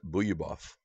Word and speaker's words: Bogoljubov: A lot of people say Bogoljubov, but I believe you pronounce it Buyabov.